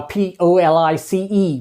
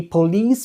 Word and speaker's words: police: like for example uh p-o-l-i-c-e we don't say police we say police all right so that's